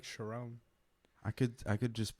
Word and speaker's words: Charon: farrier of death yeah chiron what's going on jack exactly how it's pronounced but you know i've i've heard of chiron but sharon chiron in mythology but your last name is sharon but they they the